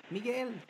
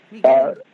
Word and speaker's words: Miguel: So Miguel, how do you say your name? And it's like what was spoken in your house, like when your mom was yelling at you. Miguel. Miguel.